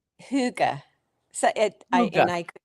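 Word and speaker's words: hygge: Huga. So I And I could be It's something like that. Yeah. Yeah. You say a a Y with a O-shaped mouth.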